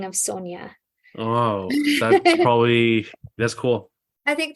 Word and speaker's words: Sonja: Oh, so it's pronounced Sonja.